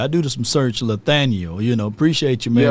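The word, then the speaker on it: Lathaniel: name is uh not it ain't spelled with an N but it's spelled with a l lethaniel instead of Nathaniel is lethaniel so that's l a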